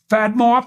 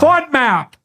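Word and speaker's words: FODMAP: were called um there's one fad mop f is that right F diet fod map yeah fod map fod fod map diet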